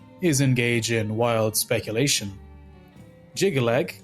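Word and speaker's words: Jyggalag: Jigalag consists of three heavy syllables with hard consonants. The rigid pronunciation almost sounds like you're hammering the syllables into place, quite on theme with the unforgiving god of order.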